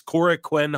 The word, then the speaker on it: Korakuen: I always just say Korakuen, but I know that's not how you say it, but it's Korakuen Hall.